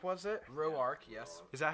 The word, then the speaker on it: Roark: 7th inning, Tanner Roark was it? Roark, yes.